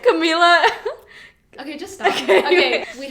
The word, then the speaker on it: Camila: But we're Camila Cabello. No, we're not, and that's not even how you pronounce it. Camila.